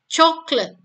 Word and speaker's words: chocolate: Tapi jika kata coklat ini dibunyikan, pronounce, dia hanya punya 2 silabel, yaitu chocolate.